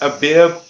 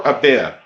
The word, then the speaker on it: Abif: is seen here and which may be pronounced a bib or a bit is compounded of the